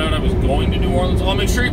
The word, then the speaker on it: New Orleans: She pronounced it New Orleans, not Nolans, not New Orleans, New Orleans, right? You're just putting less emphasis on the word new.